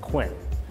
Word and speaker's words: Kun: And so their generation name is Kun, but we pronounce it Quinn.